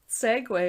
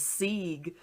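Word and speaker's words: segue: isn't this a goo it looks like it's spelled like it's spelled sugu and then christine's like yeah but that's segway and i was like oh my god is it i always thought it was sig it's like s-e-g-u-e am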